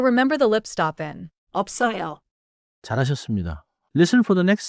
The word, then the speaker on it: 없어요: Fourth, 없어요는 입술을 닫고 없어요처럼 말해요. In English, keep the lip stop before the strong sound.